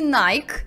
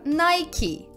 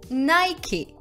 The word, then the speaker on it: Nike: вы его произнесли нет это не nike на самом деле этот бренд произносится как nike nike морду 1 до напишу